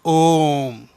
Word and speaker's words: Om: It comprises of three Sanskrit Sanskrit sounds. What are they? uh u and m or um so uh uh together becomes om.